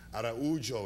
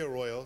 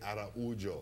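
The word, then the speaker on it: Araújo: So Araujo is how I've been told to pronounce it. My producer says, don't say Arroyo, say Araujo. Okay. That's the Brazilian way.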